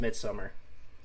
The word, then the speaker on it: Midsommar: It's pronounced Midsummer.